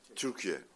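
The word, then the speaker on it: Türkiye: Dear colleagues, firstly, we changed the pronunciation. It's Turkey right now. It's not Turkey anymore.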